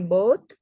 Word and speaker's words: bought: Ya, cara bacanya ini GH-nya nggak usah dibaca ya. Oh, both. Both. GH-nya nggak dibaca. nggak dibaca. Jadi both. Ya, jadi gimana? Both. Ya, both. GH-nya nggak dibaca. I bought.